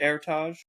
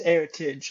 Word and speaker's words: Heritage: Airtage? It's heritage, like the word heritage.